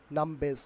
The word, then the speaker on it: numbers: ওকে, এখানে আর এর পরে দেখো একটি কনসোনেন্ট থাকার কারণে আর will be silent hair. But আর এর পরে যদি ভাওয়েল থাকতো তাহলে আর এখানে উচ্চারিত হতো, বাট সেই জন্য নাম্বারসের উচ্চারণ হবে নামবেস।